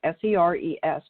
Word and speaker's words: Seres: It's spelled S-E-R-E-S, but pronounced Seres.